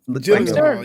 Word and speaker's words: Gyllenhaal: Jake, how do you pronounce Gyllenhaal. Gyllenhaal.